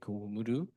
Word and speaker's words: Omoro: Uh there is a scholar, as you mentioned at the beginning, that the Omoro probably should be pronounced as like Umudu in the Okinawan language.